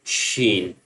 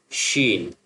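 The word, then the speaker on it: ش: The next one seen as we did in the alphabets, and the next one sheen. Seen sheen.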